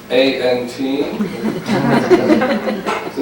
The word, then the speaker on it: aunts: this is about the A-N-T. So it's not, I don't possess any ants. I still have a diminishing number of ants, A-U and so my ants. How do you say? We say Ants.